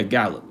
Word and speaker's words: Gallup: Yeah, Gallup.